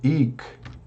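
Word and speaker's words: hic: Por exemplo, ik, né? Aqui, ik, você não pronuncia.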